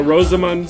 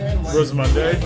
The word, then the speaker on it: Rosamunde: Is that how you say it? Is it Rosamund or Say Rosamund? Rosamunde. Yeah, Rosamund. Rosamund. Little put a little flair on the end there, Kevin.